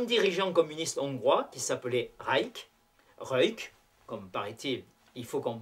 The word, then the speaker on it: Rajk: En octobre 1956, on assiste aux grandes funérailles officielles d'un dirigeant communiste hongrois qui s'appelait Rajk, comme paraît-il, il faut qu'on prononce ce nom, qui avait été l'une des victimes des procès staliniens d'après-guerre.